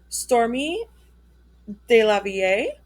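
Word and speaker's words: Stormé DeLarverie: Stormy De La Vie, that's how you say it, I looked it up, believed by some to have thrown the first punch during Stonewall riots.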